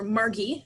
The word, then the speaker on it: Margie: one daughter margaret or margie as they call her with a hard g born in 1924 in